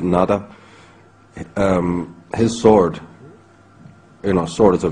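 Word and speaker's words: Nuada: There's, in the earliest settlers of Ireland in the very primordial times, the High King, whose name can be pronounced in a variety of ways, we pronounce it Nada.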